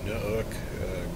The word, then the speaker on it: Nuuk: We're here in Nuuk, Greenland, I believe is how you pronounce that.